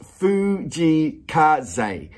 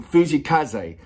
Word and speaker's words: Fujii Kaze: He goes, his name is pronounced Fujii Kaze. So that's it, Fujii Kaze.